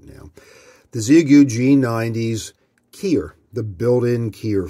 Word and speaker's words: Xiegu: want to do today is talk about the ziyagu and i've got it pronounced just right now the zeagu g90s keyer the built-in keyer function it's actually